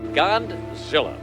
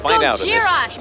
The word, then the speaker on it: Gojira: But Audrey's boss stole the story and reported it on live television, giving the monster the name Godzilla after mispronouncing Gojira. Godzilla. It's Gojira, you moron!